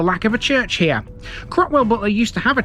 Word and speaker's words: Cropwell: Cropwell certainly rhymes with Hoe Hill after all.